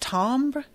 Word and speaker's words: timbre: I think it's pronounced timbre of the voice. It's spelled timber, but I think it's timbre.